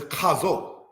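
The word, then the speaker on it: חזו: Hazo, pronounced in the language as chazo.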